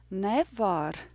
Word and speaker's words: nevar: And the last sentence was Tagad nevar. Tagad nevar. And we'll practice the last word. Nevar. Nevar. Nevar. The rhythm is yes, no.